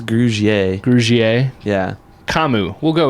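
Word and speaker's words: Grugier-Hill: I think it's Grugier.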